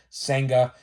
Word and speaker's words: Senga: I guarantee it but I know his last name is pronounced senga so he is the